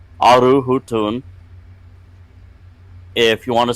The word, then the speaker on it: aru: Discord server a r beton hu tuu n aru Hun if you want to say enemy or rival it's aru and that is spelled a r u beton e a and